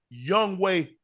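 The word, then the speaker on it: Yonghoe: That's the way it's pronounced Young Way.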